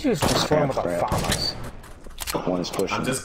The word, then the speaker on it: FAMAS: How did you just form with a famas? One is pushing. I'm just good. It's pronounced famas.